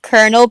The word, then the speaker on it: colonel: Okay, not going to the story, but why do we pronounce Colonel like that when it's spelled Colonel?